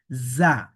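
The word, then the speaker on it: ز: দেখুন যা অক্ষর সামনের নিচের দুই দাঁতের আগা থেকে শীষ দিয়ে পড়তে হয়।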